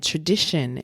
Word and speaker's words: TraDISHon: And TraDISHon in this instance is spelled TRA dish, as in dish plate, right? ON.